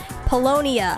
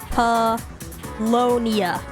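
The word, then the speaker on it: Paulownia: If you're heading out, do you want to stop by Palomina Mall together on the way home? Polonia. I keep pronouncing it wrong. Polonia.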